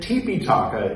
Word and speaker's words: Tipiṭaka: Tipiṭaka is the original Pali. That's the pronunciation that we use here.